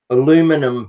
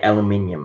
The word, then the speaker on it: aluminium: is magic ingredient is aluminum powder oh we say we say aluminium aluminium we even spell it differently so we say aluminium because that's how we spell it this sounds really